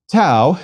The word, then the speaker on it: tau: words please repeat Sigma Tau is equivalent to RT and pronounced as the T in tip please repeat tau to